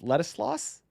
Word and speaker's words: Ladislas: of Switzerland right now on the phone with Ladislas.